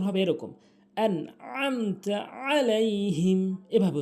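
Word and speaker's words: عليهم: আইন এখানে একটি আইন রয়েছে উচ্চারণ হবে এরকম আলাইহিম এভাবে উচ্চারণ হবে দত একটু টানবেন আলাইহিম আইন রয়েছে অর্থাৎ মোট কথা হচ্ছে সূরা ফাতেহা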